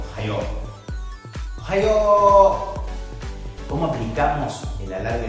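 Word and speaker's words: おはよう: O por ejemplo, en ohayo, dices ohayo.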